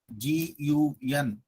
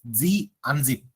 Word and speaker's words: gunzip: Is this gun zip? No, it's not gun zip. We have to call it as Z unzip.